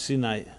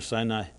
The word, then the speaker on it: Sinai: And the reason for that is because Sinai, the word Sinai, of course, is a Hebrew word pronounced sometimes Sinai or Sinai, and it actually means hatred.